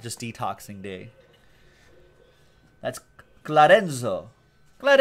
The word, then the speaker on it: Enzo: it's like spod just detoxing day that's glad Enzo let Enzo right that's how you say it he's the